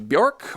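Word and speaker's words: Björk: We've got some Bjork or some Bork as it's technically supposed to be pronounced.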